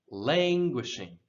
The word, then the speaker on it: languishing: word here languishing languishing now this word this emphasis goes on the first syllable lange and often when we emphasize the syllable in english we will elongate it and raise the tone not always but many times we do so languish language languishing